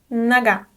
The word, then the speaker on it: нога: Нога. The unstressed O is pronounced as a.